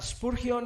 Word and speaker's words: Spurgeon: se escribe es ese punción ese purgión se pronuncia spurgion es conocido como El príncipe de los predicadores